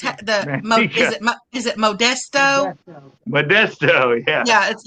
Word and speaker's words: Modesto: Yeah, but it's pronounced Modesto.